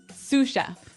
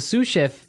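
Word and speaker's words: sous: to our second word suf suf suf suf s o u s so the S is silent because it's like a French word yeah something like that okay so the suf is the second in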